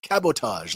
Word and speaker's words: cabotage: on y'all all right so cabotage cabotage cabotage like sabotage what cabotage so sabotage committed by